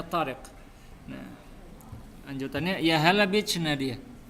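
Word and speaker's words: طارق: Nah, dia ini orang Mesir, maka dia nggak bisa ngomong qaf ya. Maka dia bacanya Tariq. Kalau Fairuz dia orang Irak bisa ngomong qaf, maka dia baca Tariq.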